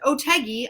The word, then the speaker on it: Otheguy: supposed to remember that that spelling is pronounced "Oteggy" i want you to remember that Oteggy rhymes with Peggy.